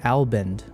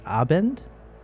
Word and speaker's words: Abend: I keep saying Abend, like a l b e n d. It's Abend. Guten Abend.